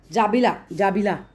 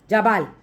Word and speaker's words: जाबाल: नाम है सत्यकामा, सत्यकामा जाबिला, ठीक है। अब सत्यकामा जाबिला जो हैं, जाबाल, सत्यकाम जाबाल जो हैं ये, ठीक है, जाबाला बोला है, क्या लिखा है, स्पेलिंग लिखा है, वैसे जाबाल हैं ये।